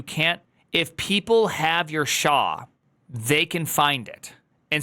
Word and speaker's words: SHA: Is there another pronunciation than SHA? S-H-A.